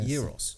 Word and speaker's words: gyros: think they call him gyros or something like that like this is soft soft G yeah euros euros and I was like